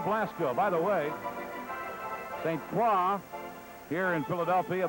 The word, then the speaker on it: St. Croix: By the way, St. Croix, here in Philadelphia, they sometimes pronounce his name St. Croix. The correct French pronunciation is St. Croix.